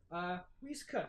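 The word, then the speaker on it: Rhys Cooke: His name is spelled Rhys, Cooke. Don't need to know the spelling, but if you'd like to have it, Reese Cook.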